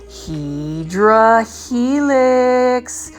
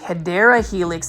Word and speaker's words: Hedera helix: This is the Hydra Helix, or what you would say the Hedera Helix. That's the correct way to say it.